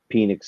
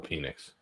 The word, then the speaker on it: Penix: It's going to be Michael Penix energy in cold weather.